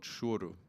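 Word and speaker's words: choro: that I really didn't know anything about called shoru has anyone heard of so it's spelled c-h-o-r-o and I thought it was like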